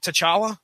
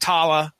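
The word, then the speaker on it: T'Challa: the movie was it to chala yeah so it wasn't Tala it wasn't like the CH was silent or anything so they was like they pronounced all the consonants and syllables that were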